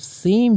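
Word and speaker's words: ثاء: So those three dots are making it sound like sa. If there would be no dots, then we would pronounce it lam. But now here we have three dots here, so we will now pronounce it sa.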